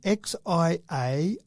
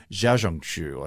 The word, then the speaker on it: Xiaohongshu: So, and I still reckon that X becomes a bit of a Z sound. So Xiaohongshu, make it faster, Xiaohongshu.